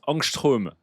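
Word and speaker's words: ångström: technologico marketing et grand qui dit ça se prononce angstrom pardon je suis chimiste et ben merci beaucoup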